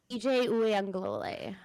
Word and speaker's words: Uiagalelei: DJ Uiagalelei.